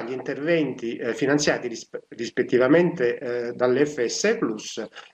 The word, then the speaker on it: Plus: Io pronuncio Plus anche, voglio dire, attenendomi a indirizzi, come dire, alti, e quindi pronunciò la latina come credo dovrebbe essere, però naturalmente chi preferisce la dizione inglese non sbaglia.